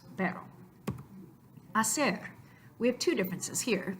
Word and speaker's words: hacer: First of all, the letter H is not represented by anything in the sound because it is a silent letter. So the letter H exists in the word hacer, but in the sound representation, it's not there at all.